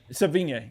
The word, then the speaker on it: Sevigny: Chloe, I can never pronounce the last name. Chloe Sevigny? Sevigny, yeah.